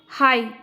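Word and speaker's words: high: हाई, हाई जो है वो हमारा होगा क्योंकि इसमें जी होता है साइलेंट।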